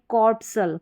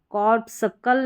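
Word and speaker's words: corpuscle: यहाँ पर भी, यहाँ पर है कॉर्पसल, कॉर्पसल। कॉर्पसकल नहीं पढ़ते, कॉर्पसल पढ़ते हैं, ये सी साइलेंट है।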